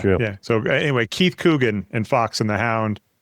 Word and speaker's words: Coogan: Keith, am I getting the name wrong? McCoogan? Keith Coogan. Coogan. Why did I do Mick?